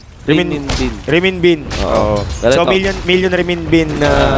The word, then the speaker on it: renminbi: Ano yung pronunciation nun? Renminbi.